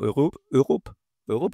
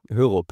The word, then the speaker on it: Hørup: On my left side, there's Hørup, right? Hørup. Yeah, we talked about it before. It's Danish. A Danish-Spanish mix of the surname, so not easy to pronounce.